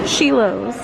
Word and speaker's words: Schilo's: like to see okay sheilo pronounced sheos and this is the